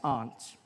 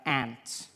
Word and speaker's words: aunt: you by for instance I pronounced the opposites of Uncle as aren't I say my arms out here you say my aunt which to me is an insect which made me look